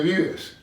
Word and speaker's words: vives: And ¿dónde vives? ¿Dónde vives? ¿Dónde vives? ¿Dónde vives? That B of vives, the two B's there, are pronounced a little bit softer than English because Spanish is not an explosive language.